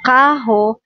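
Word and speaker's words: carro: expensive at ito namang kaho means car pag double R siya guys ano siya guys pronunciation niya is h and dito is Bose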